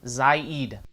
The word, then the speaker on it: Saeed: I really don't know Syed or Saeed Saeed it's the my name hey you said it right - first night he